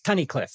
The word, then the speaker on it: Tunnicliffe: And I think I may have said the name wrong, but It's Tunnicliffe, right?